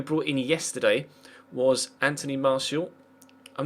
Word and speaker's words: Martial: there is a martial see what it says martial yes Anthony martial okay well now we know how to pronounce that uh Vlad say obviously hasn't played